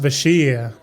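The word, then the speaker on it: Vashj'ir: Yeah, it's um V A S H J comma I R that but it's pronounced Vashier something like that.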